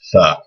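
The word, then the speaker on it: ثاء: dots above it and it makes a th sound like the word thing in english th can either be the or the there's different letters in arabic for both those sounds this one is just tha so again these four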